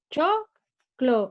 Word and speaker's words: choclo: Es choclo y la sílaba tónica es cho.